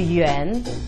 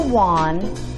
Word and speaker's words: yuan: do you say that it's called the Yen not the WAN not the Yen which is Japan's currency it's also called The